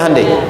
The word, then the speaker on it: Hyundai: Hyundai kan dibacanya Hande ya kan.